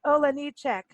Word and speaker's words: Olejniczak: So it's like Ola, Me too. Ole at the beginning also. Yeah, it's like Ole.